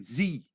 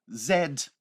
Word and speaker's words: zed: é no inglês americano no inglês britânico a gente pronuncia a letra né o nome da letra Z como Zed entende então Z é